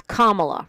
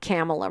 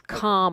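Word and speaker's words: Kamala: her name Michael it's kamla rhymes with mamala not camela rhymes with Pamela it's kamla all right can I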